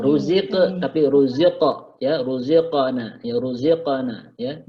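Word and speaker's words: رزقنا: tapi ruziqa, ya, ruziqana, ya, ruziqana, ya. Jadi dia tebal, ruziqana, ya. Jadi bukan ruziq, bukan ruziqana, tapi ruziqana, ya.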